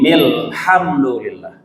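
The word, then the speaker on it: الحمد لله: Tapi bacanya adalah Bismillahirrahmanirrahim Alhamdulillah. Jadi alhamdulillah A-nya tidak dibaca. Karena itu disebut dengan hamzah wasal.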